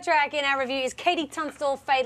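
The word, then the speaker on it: KT Tunstall: Katie Tunstall, and that's spelled with a K and the letter T, Tunstall.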